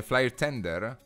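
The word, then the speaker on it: flair tender: Allora Francesco, ho detto bene, flyer tender? Sì, è scritto così e si pronuncia anche così, sì.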